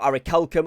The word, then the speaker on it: orichalcum: lodestone 105, platinum 110, orichalcum at 175, or orichalcum, apparently I was told it's pronounced there.